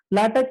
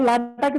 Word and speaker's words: LaTeX: First of all, LaTeX is pronounced by LaTeX, not latex.